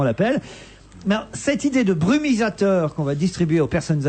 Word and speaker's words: brumisateur: Je voulais dire brumatisateur, brumisateur. J'ai l'impression qu'il manque une syllabe dans ce mot, brumisateur.